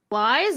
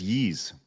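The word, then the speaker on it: Ys: Lies or yees? It is yees.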